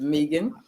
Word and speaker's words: Megan: I tried to put it on there so it will help with the pronunciation. Is Megan.